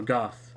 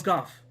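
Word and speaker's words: Gough: want to talk to hawkeye go a goth it was Goff it's always when you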